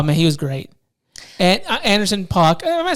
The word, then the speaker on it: Anderson .Paak: And Anderson .Paak. Am I saying it right? Yeah. Anderson .Paak.